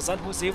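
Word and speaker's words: San José: Wird San Jose geschrieben, aber San Jose wohl ausgesprochen, so wie ich das recherchiert habe.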